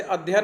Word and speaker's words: अध्ययन: जैसे अध्ययन में देखो डबल य पड़ेगा, अध्ययन।